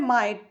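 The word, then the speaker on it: might: लिखा है माइट, तो माइट के लिए हम एम के लिए हम मा लिखेंगे, आई है तो ई हो गया, और जो है जी एस टी, जी इसमें साइलेंट है, एस टी के लिए टा हो गया, तो माइट का हिंदी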